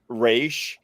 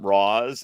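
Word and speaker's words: Ra's: was on Arrow and they used both pronunciations and and you paid attention and it was like look at who was saying it it was like it was like all the league of assassin characters called him re and then all of the like American characters would call him RW and I thought that's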